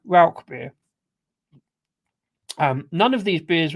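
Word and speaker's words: Rauchbier: And Ralbeer is definitely Ralbeer.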